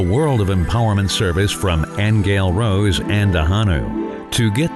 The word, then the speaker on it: Aingeal: I'll spell it because it's the beautiful name for the angel in Irish it's angale a i n g